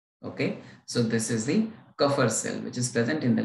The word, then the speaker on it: Kupffer: Okay, it is pronounced as what? Kupffer cell.